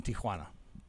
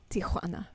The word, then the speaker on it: Tijuana: and then there's the bull ring in downtown Tijuana Tijuana yes Tijana you have to learn how to pronounce it the right way right Tim piles